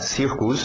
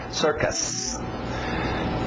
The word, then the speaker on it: circus: Circus cuidado português circo embora parecido não tem muito a ver em termos da pronúncia então cuidado para não falar Circus é sir sir aquele velho som de ER water Sister ccus Circus pap corn popcorn milho